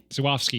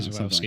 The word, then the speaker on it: Żuławski: So trying to get a handle on how to pronounce Żuławski is what the guy said. Żuławski, yeah. Andrzej Żuławski, like the director's name.